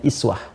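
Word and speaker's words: أسوة: Nah, di bab qiraat, bacaan uswah ini itu bisa juga dibaca dengan iswah. Ya kan? Iswah. Jadi ada dua cara baca di sini. Bisa kita baca uswatun hasanah, uswah ini harakatnya dhammah.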